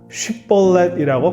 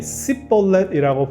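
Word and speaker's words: שיבולת: 쉽볼렛이라고 발음을 해보라고 하니 씨볼렛이라고 발음하는 것으로 에브라임 지파 사람들을 구분합니다.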